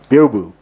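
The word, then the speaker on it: Byobu: Biobu. Biobu. Okay. So the B-Y-O is Bio, and then B-U, Bu.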